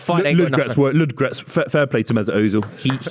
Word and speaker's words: Ludogorets: I think there's an O, just for the record, in Ludogorets. That's what I said, No, Ludogorets. you dropped the O. Ludogorets. You made it a 2-syllable word. It's a 3-syllable I said word.